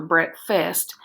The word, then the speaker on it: breakfast: word it's breakfast now we kind of slur that together sometimes and it sounds like breakfast or breakfast but it's actually breakfast breakfast so let's pound it